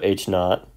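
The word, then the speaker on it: H₀: was in the motivation this is often written with H under script not for H or underscore 0 pronounced not so H not the alternative hypothesis is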